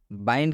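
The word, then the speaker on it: wind: आप देख सकते हैं वाइंड में भी आई के बाद से एनडी आया है और जब भी आई के बाद से एनडी आता है तो इस आई का उच्चारण आई होता है जब बाइड हम लिख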